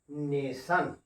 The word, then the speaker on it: nation: अब इसी तरह से देखो, इसको पढ़िए आप लोग, NATION, यहाँ टी के बाद देखो आई आया हुआ है, इसको हम लोग क्या पढ़ेंगे? नेशन।